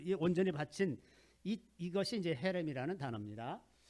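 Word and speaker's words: חרם: 여호수아서에 이제 오늘 우리 본문에서도 읽은 그 말씀 중에 헤렘이라는 히브리어가 있는데, 이게 이제 저주받은 물건 혹은 완전히 받쳐진 물건 이라는 뜻입니다. 헤렘이 이제 정확하게는 키에 가까운 크 발음이 들어가는 크렘 이런 거에 비슷합니다.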